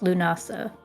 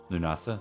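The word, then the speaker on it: Lughnasadh: succeeded but a one is pronounced lunasa lunasa thank you mhm well that's sound that's like just get rid of the D then and otherwise it's good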